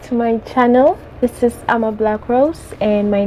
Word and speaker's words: Amablakros: This is Ama Black Rose and my name is spelled A-M-A-B-L-A-K-R-O-S.